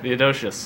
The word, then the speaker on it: Theodosius: How do you pronounce that? Theodosius.